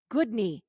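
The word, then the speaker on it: Guðni: You picture my knee and you say, "That is a good knee." Goodney, that's how you say my name.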